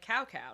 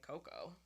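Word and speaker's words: cacao: think it's spelled okay it's spelt like cow cow no but i would say coco all right so you're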